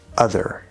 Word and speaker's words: other: So we're really likely to do an actual full th sound here. uh ther other other And looking at the next word here on my list we have the word look.